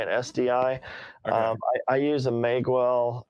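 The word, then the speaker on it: Magewell: SDI I use a mag well I think that's probably pronounced mag well ma GE wel L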